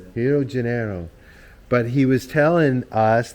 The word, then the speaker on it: Rio de Janeiro: at his place here Rio de Janeiro that's not how they pronounce it though hero Genero but he was telling